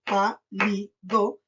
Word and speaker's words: pálido: Pa, li, do, y se acentúa en la antepenúltima sílaba, donde está el tilde.